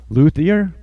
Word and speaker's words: luthier: no idea yeah Marshall's awesome and he's a luthier is it pronouncing that correctly yep yes sir yeah it's